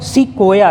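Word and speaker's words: sequoia: से बड़े पौधे का क्या नाम है कौन सी को या चीज राइट याद रखिएगा लार्जेस्ट प्लांट पूरे वर्ल्ड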